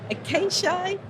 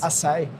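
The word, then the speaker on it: açaí: Acacia. Ashai. Say it again for me, Thomas. Asai.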